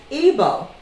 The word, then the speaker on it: Igbo: the Europeans and Africans they pronounce Igbo as IBO and there are several